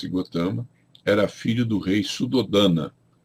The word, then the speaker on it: Gautama: o Buda bom cotama escreve-se gautama pronuncia cotama era filho do rei